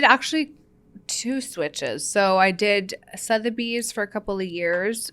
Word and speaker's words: Sotheby's: Sotheby's yes am I pronouncing it I always pronouncing wrong Sotheby's yes okay so you start off with Sotheby's